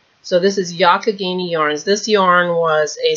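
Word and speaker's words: Youghiogheny: in Western Pennsylvania and tells me this is pronounced yakagini so this is yakagini Yarns this yarn was a special fundraiser yarn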